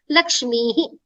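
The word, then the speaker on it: लक्ष्मीः: Lakshmim, Lakshmyav, Lakshmihi. It has to be Lakshmihi. Okay. So, please make a note. Very sorry about the earlier pronunciation, but this is how it will have to be.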